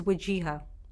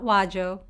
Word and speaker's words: Wajeeha: my name is waja not wajo not or waja it's free syllables W ha just to